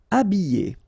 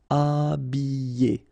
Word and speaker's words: habiller: Habiller. Okay, remember E, double L, and then a vowel, Y. Habiller. H is not pronounced. Habiller. Habiller.